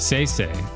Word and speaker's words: Sai: Oh, say. Yes, yes. Say. So it's say, it's pronounced say.